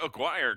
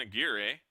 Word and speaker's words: Aguirre: As now we'll see Eric Aguirre come to the plate, the catcher. Correction, Aguirre. Apologies on that pronunciation.